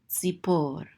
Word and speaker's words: Tzipor: So this is po, and this is a resh, so this closes out the syllable to say por, tzipor.